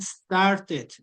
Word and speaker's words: started: Ahí sí vamos a decir started. No vamos a pronunciar tanto la e.